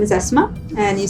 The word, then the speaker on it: Asma: My name is Asma, and you spell it as A-S-M-A.